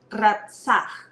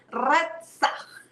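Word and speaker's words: רצח: pronuncia de esta forma, ratzah. Ratzah. Repite conmigo, a ver, es como un jalón acá, es como si quisieras botar una flema. Es ratzah, ratzah.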